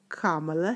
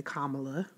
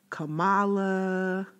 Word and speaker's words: Kamala: And please make sure you say Kamala. Yes, please. I know too many people that call her Kamala. It's Kamala. Emphasis on the first syllable, Kamala, not anything else.